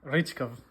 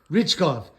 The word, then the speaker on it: Richkov: Richkov, Richkov.